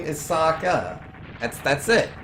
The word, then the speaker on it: Sokka: write this name is Sokka that's that's it it's two syllables it's a two syllable name it's pronounced as if it was Japanese there's a lot of